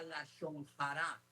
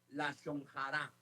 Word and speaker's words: lashon hara: Se llamaba la lashon hara. H-A-J-A. Lashon hara. De nuevo, H-A-J-R-A. Lashon hara. ¿Cómo se pronuncia?